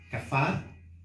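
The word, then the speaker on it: כפר: Expiación, si quieres usted apuntar, del hebreo kafar, con K, A, F, A acento en la A y R.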